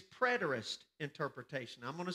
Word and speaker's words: preterist: it's not the same write this down it's preterist interpretation i'm going to spell it for you p-r-e-t-e-r-i-s-t preterist interpretation now let